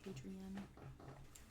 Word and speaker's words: Adrian: You say E-N or A-N? A-N. Adrian. Not Ian.